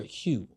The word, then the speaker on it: Hough: Her name is Jennifer Hugh. That was fucked up. It's spelled like, if y'all look how it's spelled, Hough or whatever, my bad, I fucked that up. But Jennifer Hugh, I want to say, she did an interview.